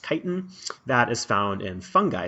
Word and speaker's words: chitin: walls and chitin that's that word is not pronounced chitin it's brand-new pronounced Titan that is found in fungi cell walls this